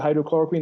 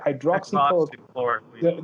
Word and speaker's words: hydroxychloroquine: And there's arguments that whichever pre-effects with hydrochloroquine, the few things, no, let me say it right, hydroxychloroquine, the very few things that are with that is something that you take.